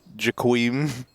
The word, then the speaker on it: jkaem: It's actually pronounced jkaem. Yeah.